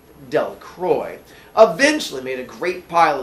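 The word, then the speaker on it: Delacroix: Jones and Dicky Democrats the villagers pronounced this name dunk Roy eventually made a great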